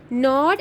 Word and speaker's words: gnawed: He even gnawed, now G is silent, gnawed at the dried pieces of spotted eggshell.